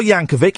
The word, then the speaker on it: Yankovic: We've got Weird Al Yankovic. It's a hard C at the end.